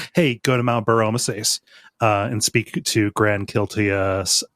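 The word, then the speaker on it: Bur-Omisace: I always want to say Omasachi, but that's not how it's said. Omasachi Burr. Yeah. No, it says, hey, go to Mount Burr Omasace and speak to Grand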